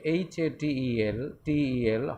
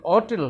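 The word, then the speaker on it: hotel: ঠিক তেমনিভাবে হোটেল, খেয়াল করো, যদি হোটেল হয় HATEL হোটেল, এই হোটেল হলে তখন এ বসছে, আর হোটেলের উচ্চারণ যদি অটেল হয় তাহলে তখন অ্যান বসছে।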